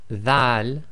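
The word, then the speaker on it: ذال: Now this Dhal, be very careful of the pronunciation, should be the, as in the English word the, as the old English word the.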